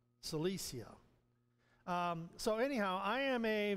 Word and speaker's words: Cilicia: Cilicia is the way it's pronounced. Cilicia.